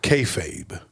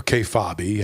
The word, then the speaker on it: kayfabe: using our politics today it's called kayfabe or k fobby however you want to pronounce it k a y f a b this